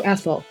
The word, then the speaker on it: Ethyl: So Ethyl. It's spelled like ethyl alcohol.